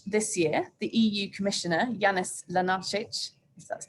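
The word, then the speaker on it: Janez Lenarčič: uh in march this year the eu commissioner janis lanarchich that's pronounced rightly created something of a stir when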